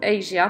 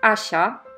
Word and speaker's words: Asia: It's actually, it's not pronounced as Asia, my name, not like the continent. It's pronounced Asia, which is very confusing, I know, but this is a Polish name, so it's like that, you have to trust me.